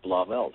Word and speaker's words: Blauvelt: you know it's funny you actually said it right it's blob Els um you get an